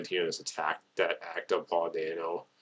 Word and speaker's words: Dano: I think the actor's how you pronounce his name is Paul Dano. There we go, Paul Dano.